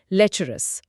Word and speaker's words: lecherous: एल ई सी एच ई आर ओ यू एस लेचरस। उच्चारण थोड़ा ध्यान से लेचरस लेचरस ओके इसका अंग्रेजी